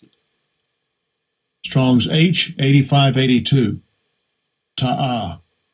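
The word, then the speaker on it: תעה: How you pronounce it? Strong's H8582. Ta'ah. Ta'ah.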